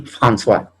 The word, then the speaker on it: François: Tenemos la unión de la O y la I, bien, la O y la I que se pronuncia wa. Bien, wa, su símbolo fonético es una W y una A. Tenemos, por ejemplo, la palabra froid, yo, moi, yo, y François, ¿no?